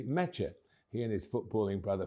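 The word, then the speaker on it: Nmecha: goal from the spot with family names starting with a silent N. So it's not Meta but simply Meta.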